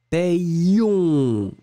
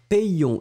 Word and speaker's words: payons: La façon de le prononcer, ça va être assez particulier puisque vous allez d'abord combiner le A et le Y. Et donc vous obtenez paix. Et après, vous allez vraiment prononcer le I et le on, hein, puisque le O et le N, ça va être de la nasale. Payon. Et vraiment, vraiment, vous insistez sur le ion.